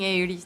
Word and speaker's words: Aerith: I'm not failing Aerith then.